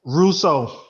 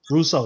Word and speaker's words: Russo: from even miami miami i can't pronounce his last name or something like that rausu russo that's how they say it russo yes yes that's just